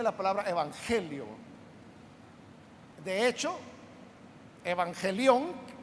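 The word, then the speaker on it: εὐαγγέλιον: palabra evangelio de hecho evangelion que así se pronuncia en el griego evangelio es la raíz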